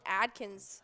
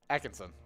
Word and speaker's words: Atkinson: and it is sid nope it is rowan adkins oh he's hilarious atkinson atkinson i was like how am i pronouncing that okay nope is rowan atkinson and he is an